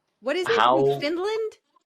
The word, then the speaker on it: Newfoundland: Because okay, that's how it's spelled. What is it? Newfoundland? Newfoundland.